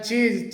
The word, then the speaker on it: chew: इसे च्यू करके बोला जाता है, इसका मतलब होता है चबाना, जबकि इसका सही जो प्रोनाउंसिएशन होता है वो चू होता है।